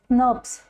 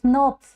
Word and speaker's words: snRNP: they are basically kind of SNS right you pronounce it as nurs so is that clear there are different different types fine they are they are of different different types okay so small snrnp nurs we pronounce it as nurs so small nuclear